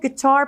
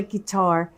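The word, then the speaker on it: chitarra: the pasta on a guitar just like this. So it's certainly not spelled like guitar, but it sounds like guitar.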